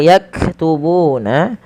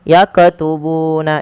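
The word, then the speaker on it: يكتبون: Kemudian pada lafal yaktubuna, huruf kaf yang berharokat sukun, hati-hati di dalam melafalkannya, jangan sampai terpantulkan. Contoh, yakatubuna itu memantul.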